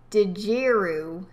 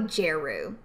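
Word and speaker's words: Djeru: Yeah, okay, so I think the D, yes, the D is probably silent.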